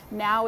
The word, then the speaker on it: Know: I don't know why I said now. It's pronounced no, K-N-O-W.